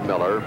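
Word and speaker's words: Mueller: His name is spelled M-U-E-L-L-E-R, 6'3" junior, pronounced Miller.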